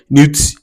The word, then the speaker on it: neuf: Neuf, n e u f, which also means night.